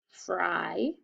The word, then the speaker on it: fry: Fry. That's an open syllable. The Y stays there because the ing. And the Y sounds like a long I.